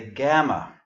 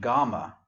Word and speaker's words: gamma: Notice I didn't say gamma, but gamma.